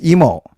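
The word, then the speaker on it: Imo: But um as you guys know, it's emo and it's not or imu despite the way it is spelled.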